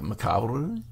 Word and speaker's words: macabre: No, it's macabre, but it's you kind of pronounce the R-E at the end with like a rolling R. Okay. So like macabre.